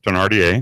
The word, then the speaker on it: Thénardier: you've seen him as Thénardier in, is that how you pronounce it? Yes, Thénardier. Thénardier. Wow, I got that right.